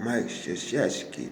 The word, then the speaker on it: Krzyzewski: old big long nose, and you can't even pronounce his name. I said, man, it's called Mike Krzyzewski, man.